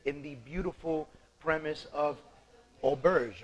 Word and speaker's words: Auberge: we're sitting here in the beautiful premise of Olbers right that's right properly said it perfect that's